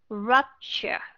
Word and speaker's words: rupture: Rupture. Nếu mà Hà Cát đọc cái âm chờ ở phía sau đó, mà Hà Cát đọc là R, thì nó sẽ là rupture.